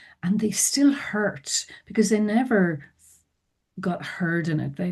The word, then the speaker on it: Niamh: So it's my name is Neve um pronounced nev but it's n i a mh.